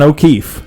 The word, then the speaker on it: O'Keefe: vagina unfortunately it is Don O'Keefe because it rhymes with teeth oh my gosh alright